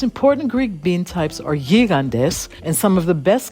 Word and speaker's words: gigantes: The most important Greek bean types are gigantes, and some of the best come from Prespes and Kastoria in the north of the country. These are the giant beans, aka gigantes, as they're pronounced in English, and they're great in hearty